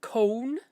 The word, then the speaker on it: con: That's cone is how we say CONE, right? There's no ooh in there. It's just con.